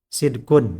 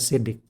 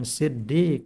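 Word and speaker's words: صدق: Sidkun ya. Kalau kita sering bacanya sidik. Karena idza hurika sakin hurika bil kasri. Sidkun itu sukun. Nah, mau diharokati, harokati dengan kasroh. Jadi sidik. Tapi jangan pakai tasdid, jangan pakai iya, bukan siddiq, bukan.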